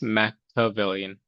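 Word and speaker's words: Machiavellian: And that first vocab word, by the way, I forgot to correct you, but it's pronounced mavlian. So this ch is actually a hard c sound.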